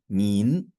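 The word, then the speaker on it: 您: So when you see that, that's a tone sign and that's a rising tone. So it goes up. That's why I pronounce that as mean.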